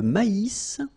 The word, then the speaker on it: maïs: L'avoine, le blé, here, accent aigu, et le maïs, so here you get this tréma, so maïs, maïs, and then you pronounce the final S, maïs.